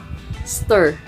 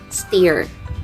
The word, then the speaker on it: stir: sugar into the batter that is stir not steer butt stir correct now for our fifth